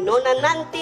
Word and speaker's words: Nona NTT: Kalau dia yang nyanyi nona nanti lincahin dia nunggu dong nunggu. Tentu Nusa Tenggara Timur. Kalau bacanya nanti N-nya dobel bukan T-nya dobel.